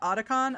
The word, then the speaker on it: Otakon: Otakon? I don't know how to pronounce it. I assume Otakon since it's otaku.